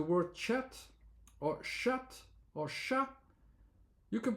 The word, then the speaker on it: chat: Then you have the A and then the T. We don't pronounce it.